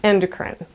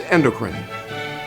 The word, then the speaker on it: endocrine: The word of the day is endocrine. It refers to the system in the human body that produces and delivers hormones. If you're in the United States, the correct pronunciation is endocrine.